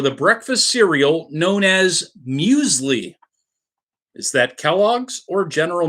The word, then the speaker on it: muesli: Mills medically its musics but I'm pretty sure muesli is the correct way to pronounce that cereal that I've never had and